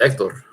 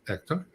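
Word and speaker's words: Hector: that's what it is it's spelled with an H but it's said without an H because the Spanish the H is silent well that's what I'm gonna say from now on ector oh appreciate it ier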